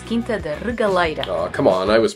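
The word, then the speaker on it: Quinta da Regaleira: the first stop, the Quinta de Regieira. No, you're saying it wrong. It's Quinta de Regaleira.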